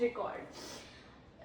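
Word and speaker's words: record: A document or a disc is known as रिकॉर्ड।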